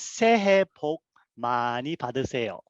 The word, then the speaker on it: 새해 복 많이 받으세요: The way to pronounce it is 새해 복 많이 받으세요. So that's you were spot on.